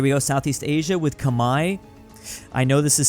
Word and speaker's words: Khmer: Here we go, Southeast Asia with Khmer. I know this is spelled Khmer, but technically it is Khmer.